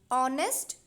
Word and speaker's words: honest: I am saying honest, hour, heir. So here the letters are consonants but the starting sound is of a vowel.